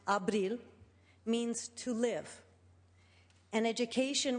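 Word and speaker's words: Ապրիլ: In the Armenian language, the month of April, pronounced Abril, means to live.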